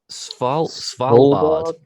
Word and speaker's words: Svalbard: How do you pronounce it? Svalbard.